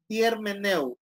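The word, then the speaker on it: ἑρμηνεύω: 10 - jermaine él termina el ojo se pronuncia germaneu esta palabra se puede traducir como explicar también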